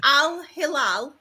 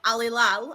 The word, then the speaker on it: Al Hilal: I can't pronounce my h's without like breath and then saying it. So if I go al hilal, I'm fine. But alilal I'm not.